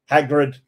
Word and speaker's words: Hagrid: ha haggy hag hagri Hagrid I don't know what his name is somebody said that somebody corrected me with thing it's a hard G ha isn't that a isn't G hard I don't know I